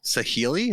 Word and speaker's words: Saheeli: Saheeli? Is that how you pronounce this?